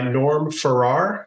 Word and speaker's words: Norm Farrar: And today we are joined by Norm Farrar. Norm, I'm pronouncing that right?